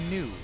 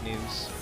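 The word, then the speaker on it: Nue: a cus and a new uh a new is spelled Nu u e I believe news are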